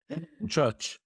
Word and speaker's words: Buczacz: How do I pronounce the name of the town? Buczacz. Buczacz, thank you so much.